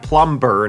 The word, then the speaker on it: plumber: ไม่ ไม่ ออก นะ เป็น ตัว อักษร ที่ ไม่ ออก เสียง นะ ครับ ก็ คือ ตัว B นะ ฮะ ตัว B ใน คำ ว่า พ ไม่ ใช่ plumber นะ plum ก็ คือ